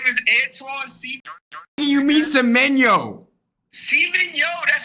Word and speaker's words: Semenyo: We have Jeremy Doku, Antoine Seaman, yo, Phil Foden. Antoine Seaman? Antoine Seaman? Fuck. Man City, nigga. Antoine Seaman? Seaman, yo. Yeah, his name is Antoine Seaman. You mean Semenyo?